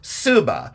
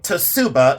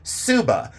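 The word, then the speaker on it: tsuba: spelled t s u ba a but it's pronounced subba you don't say tuuba you say subba the subba is that dissh shaped guard at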